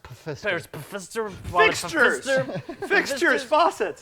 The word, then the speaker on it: Pfister: It's pronounced Pfister.